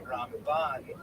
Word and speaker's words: Ramban: Typically, especially on Ashkenazim, you can sort of distinguish the difference because we say Ramban with the accent on the last syllable and Rambam, the accent on the first syllable.